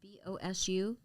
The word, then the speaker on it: BOSU: brother got me on the how do you pronounce it the b-o-s-u so he got me on the bosu ball